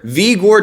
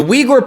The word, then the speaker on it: Uyghur: vigor muslims or their vigor chinese ethnic group now vigor many people think it's pronounced because it's actually spelled like that but the vigor people